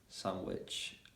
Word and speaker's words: sandwich: to be silent and also we've got more cases in which that's a d is silent so for example in a word sandwich um handsome yeah when you add